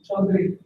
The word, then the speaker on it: Chaudhary: Chaudhary.